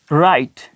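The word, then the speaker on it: write: बाद R या H, अगर W के बाद R या H आ जाए, ठीक है, तो फिर क्या कि W का हम साइलेंट हो जाएगा, तो W जो है, W ये खामोश हो जाएगा, ये प्रोनाउंस नहीं किया जाएगा।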